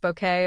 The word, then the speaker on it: Bucket: However, it was the 1990s that introduced the world to Hyacinth Bucket, pronounced bouquet, of course, in Keeping Up Appearances.